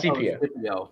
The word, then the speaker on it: Scipio: That's It starts CPO. Yeah, but it's pronounced Scipio.